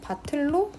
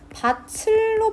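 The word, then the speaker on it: 밭을: 뒤에 조사 의리 붙으면 티읕이 바로 연음 돼야 되죠 그래서 바틀로 바람을 한다 맞죠 여기서 주의해야 될 점 바칠로 바름하는 거 아닌가요라고 말하면 틀립니다 그대로 여름은 해줘야 되는 조건이에요 바칠로 발음했던 사람들은 잘못 발음한 겁니다 그래서 5번도 적절합니다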